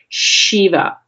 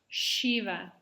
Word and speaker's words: Shiva: It's the same letter that we use in the word Shiva. Say that Shiva. Shiva is the lord of destruction. And if you pronounce his name without the h sound, it sounds like this.